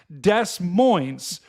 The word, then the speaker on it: Des Moines: Of the chat has agreed with me in how do you pronounce Des Moines. It is, in fact, Des Moines.